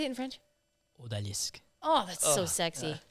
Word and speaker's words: Odalisque: Odalisque. Oh, that's so sexy. Odalisque.